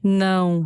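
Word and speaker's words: não: Ese es el más difícil, Sofi, ese sonido. ¿Sí? Nao, nao, nao. Nao, nao. ¿Es como más nasal? Es nasal, totalmente nasal.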